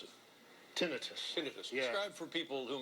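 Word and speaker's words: tinnitus: information here you and I both have uh tenus or tenius yeah how do you pronounce it tinitus tinitus describe for people who may not know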